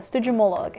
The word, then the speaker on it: Stygimoloch: I mean, on this Stygimoloch. I had to YouTube the name because I couldn't pronounce it. It's called a Stygimoloch and it has a little dinosaur with a